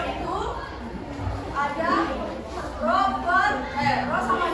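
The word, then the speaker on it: ρ: kita menggunakan pokok ini ini bukan P ini bukan di apa dibaca P tapi dibacanya nya roho roho ro ya dibacanya roho r = m/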